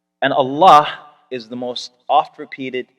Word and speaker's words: Allah: pronounced on the tongue a double l exhale with love allah it is the phrase